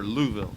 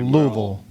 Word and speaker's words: Louisville: Louisville or Louisville? Well, you have to say it like you have marbles in your mouth. Okay, Louisville.